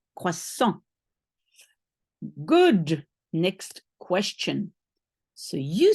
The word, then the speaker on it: croissant: a croissant a croissant one of those nasal sounds croissant don't say the ending don't say croissant there's nothing at the end croissant good next question so